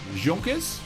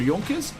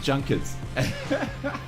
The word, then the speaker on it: Junkers: in before all you guys do um it's pronounced junkers or jonkers not junkers oh I love doing these News videos I